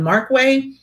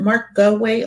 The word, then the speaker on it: Markway: johnson plays dr john markway is it mark go away like i always want to add an extra syllable dr john mark way julie harris as eleanor